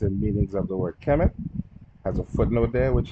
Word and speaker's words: Kemet: So just let you know to pronounce the M at the end. This is Kemet.